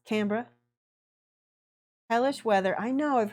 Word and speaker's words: Canberra: Not to be pronounced Canberra, because that's wrong. It's Canberra.